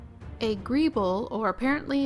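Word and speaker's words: greeble: and i need to say it correctly a grieble or apparently it's pronounced greebly is a prominent detailing added to the surface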